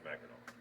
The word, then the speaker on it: Mackinac: There are 3 spellings that you will see, which is Mac, INAC, INACK, and INAW, and they're all pronounced Mackinac. It's started out as a French word, and I think they could get away with the NAC that sounded like a W.